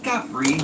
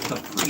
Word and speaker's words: Capri: Listen, I'm mature enough to admit when I'm wrong, but the Italian pronunciation is technically gapri, not Capri.